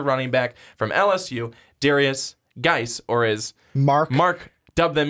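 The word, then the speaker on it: Guice: We even got a comment about that where Mark knows it's Darius Geis. I corrected him. He just likes calling him Darius Juice because it looks like juice. I'm not going to lie. You could say it like that. You could. And get away with it. And people wouldn't think that you're like crazy. It's just the silent U.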